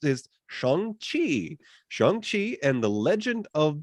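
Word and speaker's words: Shang-Chi: it so trust me the way this is pronounced is Chong Chi chongqi and the legend of the ten Rings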